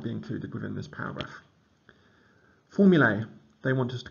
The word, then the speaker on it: formulae: Formulae, they want us to call it, pronouncing the A like in day, but no one does. It's just formula.